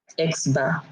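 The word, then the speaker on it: x̄: okay it just means the sample mean okay x-bar it's a sample mean and that's great which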